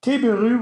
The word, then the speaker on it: Tabaru: Well, I'll do the Japanese pronunciation just because I actually lived in Japan for a little bit. It's supposed to be Tabaru, which is the Japanese word for table.